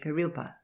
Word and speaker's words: Kurilpa: When people commenced to settle a little and build, a man named Greenyeard built a house at South Brisbane at Kurilpa, pronounced in English Kurilpa, what we now call West End.